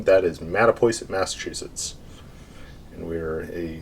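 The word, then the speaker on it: Mattapoisett: case anybody's been wondering how the heck you pronounce that crazy uh name that is mata poison massachusetts and we are a seacoast town in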